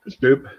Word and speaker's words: Bopp: Yeah, like boop. Betty Boop. There you go, Betty Boop. It's spelled the same way. I'll remember we got that. one on him, Betty Boop. Betty Boop. It's spelled the same way, and that's what I thought when I Yep. first said it, but I was like, I'm not sure if that's how it's pronounced.